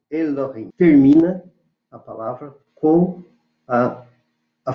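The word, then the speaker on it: אֱלֹהִים: O Aleph não se pronuncia, mas ele está assinalado como E. E o El, Elohim, Elohim.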